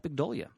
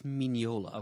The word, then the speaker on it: Mignola: And art by young Mike Mignola.